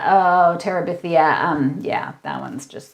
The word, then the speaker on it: Terabithia: of aj yes victory is that how you pronounce it i'm not sure gone girl oh that's for sure a bridge to terabitha oh terabithia um yeah that one's just like the diary